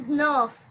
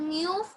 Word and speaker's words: neuf: 9 is nerf. It's not neuf or something. It's nerf. 9 is nerf.